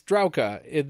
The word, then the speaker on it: Drauka: And then Drauka is Drauka. The A-U is like an O and a W.